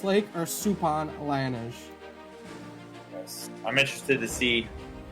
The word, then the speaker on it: Liyanage: It's like Liyanage. You pronounce it like with an R. Liyanage. Alright. It's like you pronounce it like with if there's an R in there.